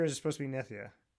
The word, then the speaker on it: Nitya: So, most people say Nidia. No, everybody says Nidia and everybody. So, but it's Nithia.